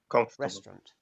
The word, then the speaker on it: restaurant: let's do one more example together restaurant that's a great okay restaurant question can you hear which syllable is missing which syllable the a u is often not pronounced so you can link directly from the t to the r restaurant look at five more